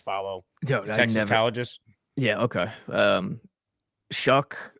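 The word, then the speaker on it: Shough: never pronounce his name show is it really with a CK Tyler shuck I only know this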